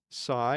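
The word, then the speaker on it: sai: Sigh. It's spelled s AI.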